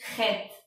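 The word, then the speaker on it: חית: La octava y última letra de esta clase es Het, y su sonido es G, bien gutural.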